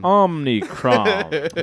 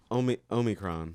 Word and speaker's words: omicron: has contracted the omnichrome you keep mispronouncing it omnicron what is it called omicron why is it called this